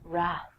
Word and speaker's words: wrath: Trek fans out there, Wrath. Famously, the Wrath of Khan. I have no idea what the Wrath of Khan is, but I will tell you that the W is silent, so don't say it.